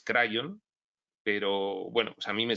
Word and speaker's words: Kryon: conocer afición por cierto yo digo crío entiendo que tiene su sentido cómo se pronuncia en el idioma inglés crayón pero bueno a mí